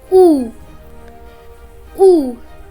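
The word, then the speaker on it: у: the next one is who who it is a vowel and you can see it looks like an English wire but it is and a Russian ooh after that we have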